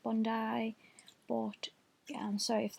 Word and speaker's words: Bondi: I always say Bondi Sands, it's pronounced Bondi, but yeah, I'm sorry if that annoys anyone.